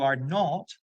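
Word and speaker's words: aren't: en I not you are not you ar fijaos es habitual que cometamos el error de la pronunciación que estamos comentando que es difícil que arent escrito así lo digamos arent pero es aren Okay He isn't She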